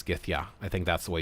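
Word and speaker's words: gyðja: for F, Gith, and J's are pronounced like Y's are in English, so that's Ya, just like the word Yow. So Githya, or Githyow. It doesn't have the accent, so I think it's Githya.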